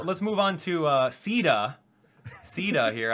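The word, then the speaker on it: Caeda: move on to uh ceda ceda here i found out the pronunciation from firearm warriors apparently it's ceta now okay uh but anyway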